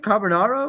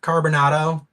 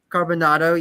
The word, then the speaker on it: Carbonado: Carbonaro or what? Carbonado. Carbonado, yes.